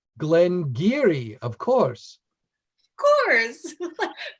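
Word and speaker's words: Glen Garioch: to pronounce um but it's g-a-r-i-o-c-h yes pronounced glenn geary of course of course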